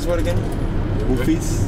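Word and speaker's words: Rufisque: How do you pronounce the word again? Roofies? Roofies.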